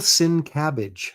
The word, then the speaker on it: Sienkiewicz: So um Bill Sin Cabbage, there you go. Well, that's how it's spelled, but it's not how it's pronounced.